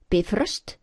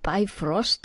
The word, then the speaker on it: Bifröst: Bifröst, not bifrost at all, but bifröst.